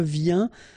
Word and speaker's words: viens: Je viens, final S not pronounced, okay? And when you combine this IEN, you get this yin, yin.